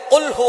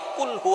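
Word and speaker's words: قل هو: আল্লাহ পাক রাব্বুল আলামন এখানে বলছেন কুলহু আল্লাহু আহাদ। এখানে কফ দিয়ে পড়ছেন কিন্তু অনেকেই ভুল করে উচ্চারণ সঠিক না হওয়ার কারণে তারা পরে কাফ দিয়ে। কুলহু আল্লাহ।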